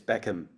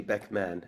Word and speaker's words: Beckman: a lot of people think it's Beckham, Okay. but it's actually Beckman.